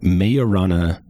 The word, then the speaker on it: Majorana: Those are firmians which are their own antiparticle and a nutrino is possibly a mayorana uh nutrino and it's spelled it's spelled majorana but uh it's Italian physicist who uh Fermy actually